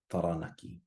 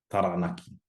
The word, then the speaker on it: Taranaki: How would you pronounce the following? So first we have rotorua, rotorua, whakatāne, whakatāne, and taranaki, taranaki.